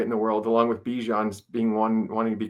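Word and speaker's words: Bijan: Did you guys hear that Bejan Robinson wants to be called Bejian Robinson again instead of Bjan?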